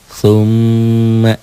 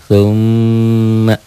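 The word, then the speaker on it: ثُمَّ: contoh huruf g nah tumma tuh m-nya mimnya bertasdid tumma Ya ditahan dobel dan dengung tumma tuh bagaimana kalau tasjidnya saya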